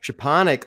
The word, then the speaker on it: Szczepanek: it what was it it's shaponic oh it's so ironic it's like a sha and then the a i don't even